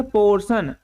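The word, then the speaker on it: portion: टी आई ओ एन अब यहां आप देख सकते हैं टी केवल आई ओ है तभी से हम क्या पढ़ेंगे निकलेंगे तो इसमें क्या पढ़ेंगे पोर्शन जिसका हिंदी मतलब होता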